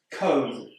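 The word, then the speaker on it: comb: Cone. This word's got a B at the end, but we don't pronounce it.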